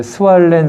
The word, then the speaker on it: 스왈렌: 그 이름이 우리나라 말로 소안년 선교사고 본래 발음으로 이제 스왈렌 선교사님인데 그분을 찾아가서 내가 보니까 밤새도록 코가 간질간질하고 코가 썩는 것 같다.